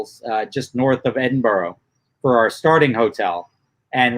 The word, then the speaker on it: Edinburgh: It's just Edinburgh.